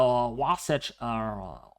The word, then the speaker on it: Wasatch: And for the higher elevations of the Rockies and the Wasatch, yes, that's how you say it, near Salt